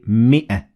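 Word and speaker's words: مائة: again in the word labithu and in mi'a. So we don't say mi'a, we say mi'a. So there is no alif there.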